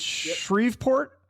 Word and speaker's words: Shreveport: So tell me, I'm going to mispronounce this hometown. Is it Shreveport, Louisiana?